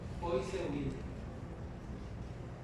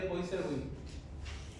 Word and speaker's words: Poiseuille: Difícil es pronunciar su apellido. Poiseuille.